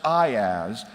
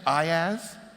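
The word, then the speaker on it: IaaS: a service I i a a s commonly pronounced I as at least by Americans what do you say in Romania do you say iaz no okay well I'm going to say I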